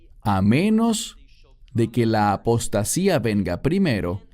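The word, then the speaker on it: ἀποστασία: La palabra aquí es apostasía, en griego, que se pronuncia igual, apostasía.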